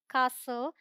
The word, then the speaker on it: castle: The rule says T is silent before L. L से पहले आएगा तो silent होगा। देखिए यहाँ पर L से पहले आया, ये है apostle, bristle, bustle, castle, hustle, nestle, whistle, wrestle, thistle।